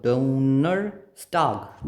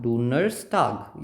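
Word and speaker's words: Donnerstag: का ड उ न डोनर स्टाग डोनर स्टाग यहां पे एफस ही रहेगा स ही रहेगा बिकॉज़ इसके पहले क्या नहीं है ए कोई भी वोवेल नहीं है कंसोनेंट है सिमिलर सी बात है।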